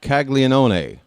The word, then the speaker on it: Caglianone: Jack Caglianone, and that's right, I'm pronouncing every syllable.